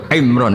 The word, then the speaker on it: Imran: Dari sana Bugis Imran, jadi orang sana nggak pakai ro. Kalau orang ro jadi pakai ra. Kalau ainnya? Ain pakai ain. Berarti apa? Imron gitu. Ya kalau sana tulisan KTP Imran. Apa bacanya orang-orang Sulawesi? Apa? Imran.